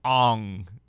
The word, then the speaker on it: Aang: He literally changed the pronunciation of characters' names because it did not fit his definition of it. The main character is called Aang. He's like, no, you're going to call him Ong.